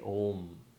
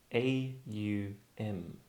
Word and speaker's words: om: not just about theory just say om a u m um to start off with that just just start